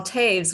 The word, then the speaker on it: Toews: guest with us today his name is taves welcome to the show how are you